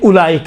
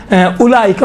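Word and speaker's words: أولئك: آپ کو پتہ ہے 6 الفاظ ایسے الفاظ ہیں جہاں پر واو لکھا ہوا ہے لیکن پڑھا نہیں جاتا ہے، انہی میں سے ایک اولئک ہے۔ اب دیکھیں اولی، اب یسرن القرآن پڑھاتا وقت کیا الف واو پیش او لام یا ذلی، میں نے خود سنا ہے اولی، بابا اولی ہے، واو نہیں پڑھا جاتا ہے، یہاں سائلنٹ ہوتا ہے۔ اولی، اولائی، اولائی لکھا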